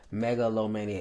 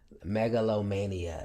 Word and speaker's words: megalomania: Megalomania is the pronunciation, but this got you. Listen, I do know how to read. We learning words every day. Oh, that's what's up. Megalomania, yes.